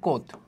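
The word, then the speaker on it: Comte: দেখতে পাই যে কোত এটা কিন্তু লেখা হয়েছে কমতে কিন্তু এটার উচ্চারণটা কি বানানটা কি এগেইন আমি আগেও বলছিলাম যে এটার উচ্চারণটা হচ্ছে কোত ঠিক আছে চন্দ্রবিন্দুস সহ কোত এর মতানুসারে মানবজাতির ক্রম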